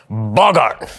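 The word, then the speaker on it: Boggart: But however, they are known on this plane as a bogart. Actually, it's pronounced bogart.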